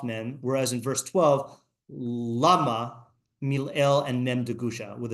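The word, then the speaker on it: למה: In the first case, the stress is on the syllable ma, and the question is ma, for what purpose? Presumably there is a reason for it, but the object to be achieved by it is incomprehensible. In the second case, the stress is on the syllable la, on the reason.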